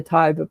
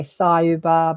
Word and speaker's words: Tayuba: was changed to the Tayuba Prophecy. Some people say Thayuba, but it's spelt like Thai food, Tayuba, and it's the name they called their planet.